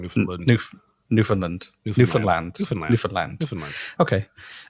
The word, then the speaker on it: Newfoundland: newfoundland by the way you'd pronounce the land newfoundland yeah you were saying newfoundland newfoundland newfoundland different land